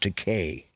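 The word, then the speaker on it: Takei: Trek insir yeah you know his name is pronounced to K yeah not because I I read his book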